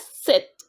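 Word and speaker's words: sept: and it's pronounced as sit so P is silent you for eight you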